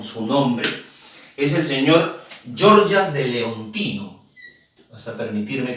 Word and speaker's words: Gorgias: nombre, es el señor Georgas de Leontino. ¿Vas a permitirme que me agache? Se escribe gorgias, se pronuncia georgias de leino, a quien